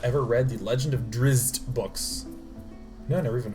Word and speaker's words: Drizzt: In a world where we're one turn away from dying, it's Pronounced Drizzt.